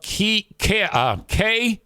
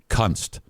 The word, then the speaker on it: Kunst: His name is spelled K-U-N-S-T.